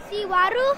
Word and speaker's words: Xihuaru: Xihuaru.